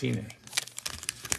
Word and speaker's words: Cine: It's Cine.